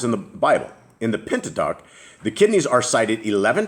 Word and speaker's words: Pentateuch: Pentateuch.